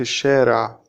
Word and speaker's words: الشارع: When we speak fast, we don't pronounce the L in this sentence. أنا في الشارع.